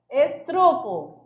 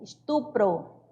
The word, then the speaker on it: estupro: A pronúncia correta. Guspe. Cuspe. Advogado. Advogado. Estrupo. Estupro.